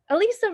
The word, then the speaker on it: Elyssa: Elyssa rhymes with alopecia. Elyssa, alopecia.